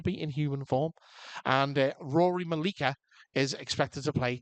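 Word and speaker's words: Ruaridh: And Rory Malikica is expected to play Tommy Maximoff. So, and I did pronounce his name correctly there as opposed to how it's spelled.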